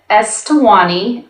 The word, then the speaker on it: Eswatini: Now it's named Eswatini. Oh. I actually practiced saying this earlier and I'm not saying it right, but I wouldn't be able to help you. It's like Eswatini.